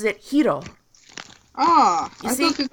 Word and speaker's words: Hiro: Like, in English you would pronounce it Hero, but she pronounces it Hiro. You I see? thought it was Like, like yeah, it's like a very soft roll on the R.